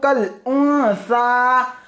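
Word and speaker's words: كالأنثى: वलैसा ज़करु कल उन्सा कल उन्सा, यहां पर हिज्जे देखें, ये जो काफ के काफ से जुड़ा हुआ जो अलीफ है उसको पढ़ना नहीं है, ठीक है, काफ को डायरेक्ट यहां लाम से मिला ला है, काफ लाम जबर कल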